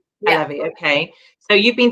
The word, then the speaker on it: Halevi: Now, I'm not sure the pronunciation is Halevi. Halevi, yeah.